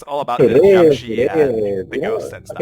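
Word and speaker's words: 僵尸: Yeah, in Mandarin it's pronounced Jiang-shi. Jiang-shi.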